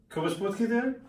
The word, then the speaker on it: Potgieter: I feel like you've been pretending not to be able to pronounce it because that was too good. First try. I was on... Cobus Potgieter?